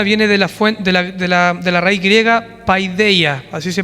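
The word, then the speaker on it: παιδεία: La palabra disciplina viene de la raíz griega paideia, así se pronuncia.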